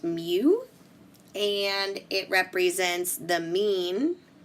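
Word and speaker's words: μ: is going to be John's rent this is pronounced mu and it represents the mean of the data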